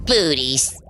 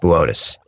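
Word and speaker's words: Boötes: Booties. Buus. And it says Booties on the teleproter. It's pronounced Botus. Whatever. The Black Knight satellite is uh supposed to be from Booties. Buotus.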